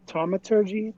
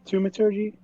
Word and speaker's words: thaumaturgy: doing a little bit of how do you pronounce it? Taumaturgy? Thaumaturgy?